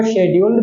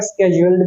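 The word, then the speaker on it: scheduled: ये जो वर्ड मैंने स्केड्यूल्ड लिखा है इसकी दो प्रोनाउंसिएशंस होती है, हम इसको शेड्यूल्ड भी बोलते हैं और स्केड्यूल्ड भी बोलते हैं, राइट?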